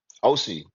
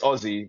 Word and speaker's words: Osy: Am I saying your name wrong? Is it OC? OC. In London, it's Aussie, but ever Oh, since okay, I came cool, to LA, cool.